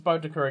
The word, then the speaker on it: Boudicca: If you lose to Boudicca again, or Boadicea, because I know people pronounce it both ways and they'll get mad at me in the comments.